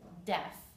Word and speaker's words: deaf: blind one syllable next def the a is silence so you can cross it off write silent a or phonetic spelling d e f the short e deaf here is the word